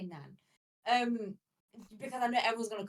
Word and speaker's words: naan: It's with a double A, so you kind of pronounce it like naan. I have a hard time doing that, so I say nan.